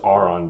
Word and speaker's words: Auron: It's pronounced Auron, but Aaron, whatever, I don't care, is her first child and the son.